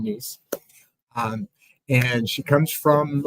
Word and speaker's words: Nhys: now we got it because it's like niece and nephew. She told me that. So, remember her name, niece.